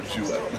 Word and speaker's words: Juiette: So the easiest way to explain it is think of a duet, like when two people sing. So with the J sound, so Juiette. That's how you pronounce it. And it's spelled Juiette.